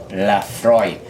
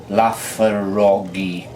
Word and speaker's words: Laphroaig: The bottle very aptly tells you that Laphroaig is pronounced Laphroaig. because reading it you'd go Laphroaig, and it comes from Scotland, or as I prefer to call that wonderful country, Scotchland.